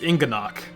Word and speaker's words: Inganock: Yeah, see, I was pronouncing it right. Inganock. It's Inganock.